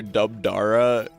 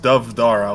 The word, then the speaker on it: Dovdara: I'm looking at this red commander, Dubdara, or he's orange for me. Oh, I've been informed that his name is pronounced Dovdara, like with the BH is with a V apparently.